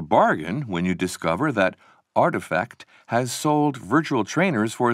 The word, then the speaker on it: RTFKT: in February 2021 another digital fashion company rtfkt pronounced artifact organized an online sale of 621 pairs of